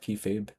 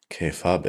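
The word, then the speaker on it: kayfabe: Kay fab. I always thought it was some crazy Japanese word. I think squared circle is the K like okay. Fabe like babe.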